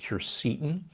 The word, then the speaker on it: quercetin: I'm a big fan of quercetin, sometimes pronounced quercetin.